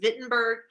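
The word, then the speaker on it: Wittenberg: to the university of vitberg I know it's spelled with a W but it's pronounced with a V okay so the University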